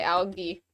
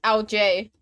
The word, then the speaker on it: algae: Or if you want to say it the weird way, aka the British way, algae. Or if you want to say it the way it's pronounced, LJ.